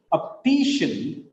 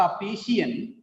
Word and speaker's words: optician: Look at here, optician. It is not optician, it is optician. Here three syllables are there. Optician. It is shen, not shian. Shen. Optician. The last syllable is shen.